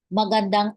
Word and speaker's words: magandang: araw po Okay so in Tagalog there is no silent letter so you can read it all like maganda with the ng m Okay magandang like sang sing like that Magandang araw po Magandang